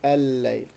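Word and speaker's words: الليل: way: 2 lams together, one of them is dropped in pronunciation, the second lam is 2 lams, so the fact is that we end up by 2 lams anyway, and so we pronounce it al-layl.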